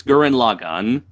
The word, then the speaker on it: Gurren Lagann: It's like do you pronounce it symbiote or symbiote? You know, it's like who cares? Gurren Lagann. It's Gurren Lagann.